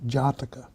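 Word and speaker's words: Jātaka: it a horizontal bar this means that it's pronounced for twice as long as the other syllables so it's actually Jara this literally means birth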